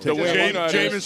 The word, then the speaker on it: Jameis: Jameis rhymes with the lamest, too.